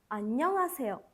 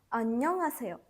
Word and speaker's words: 안녕하세요: В произношении буква «хих» не выдыхается сильно. То есть это звучит примерно так. 안녕하세요. 안녕하세요.